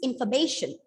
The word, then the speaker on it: information: this is in and what about this one f o r f o r normally you pronounce it as far right it is far but when it comes in a word yes we reduce it to a schwa song and it becomes infer you know this is